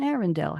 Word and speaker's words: Arendelle: Royal Sisters of Arendelle it Rhymes Menzel Bell and Arendelle how cute when Elsa